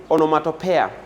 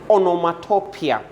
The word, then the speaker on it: onomatopoeia: I've heard people say onomatopoeia, but the correct pronunciation is onomatopoeia.